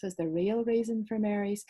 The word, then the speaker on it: Mary: The East was full of old ladies who spun tall tales, Margarets, Maureen's and Marys, pronounced Mary to rhyme with cheery, thus differentiating them from the other sort of Mary, the ones named after the Mother of God.